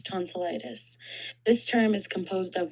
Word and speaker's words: tonsillitis: The corre the correct pronunciation is as follows. Tonsilitis. Tonsillitis.